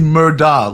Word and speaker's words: Murdaugh: If his last name wasn't Murdaugh, what do you think the case would have been? Louis, it's actually Murdaugh, like Murdaugh. It's almost like Murdoch, like Murdaugh. It's pronounced.